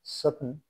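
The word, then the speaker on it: soften: টি silent, H এস টি ই N, Hesson, তাড়াতাড়ি। এল আই এস টি ই এন, লিসেন, শোনা। ও এফ টি ই এন, অফেন, ফ্রাই। এস ও এফ টি ই এন, সফেন, নরম করা।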